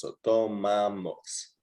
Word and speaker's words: tomamos: Amos. Amos at the end. It's just an amos. So tomamos. Tomamos.